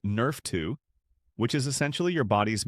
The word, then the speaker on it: NRF2: It activates a cellular pathway called NRF2, pronounced Nerf 2, which is essentially your body's master antioxidant and anti-inflammatory control system.